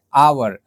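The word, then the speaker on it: hour: जो आवर वैसे तो कोसोनेंट है लेकिन इसको प्रोनाउंस कर रहे हैं तो हम लोग यूज़ कर रहे हैं आवर आ तो आ क्या है आ स्वर है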